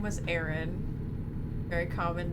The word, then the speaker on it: Aaron: There was one day he came into work and he was like, so in reality, the name Aaron, spelled with 2 A's, R-O-N, is supposed to be pronounced Aaron.